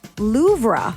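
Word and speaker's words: Louvre: According to Babel, it's supposed to be Loura. So, you're pronouncing it how it's spelled cuz there is an R in there.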